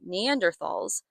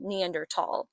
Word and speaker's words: Neanderthal: up to them, but reluctantly leaves, calling them Neanderthalss, which was my first introduction to that word as a child. Later, when I would study human evolution in college, I would learn that it's actually pronounced Neanderl.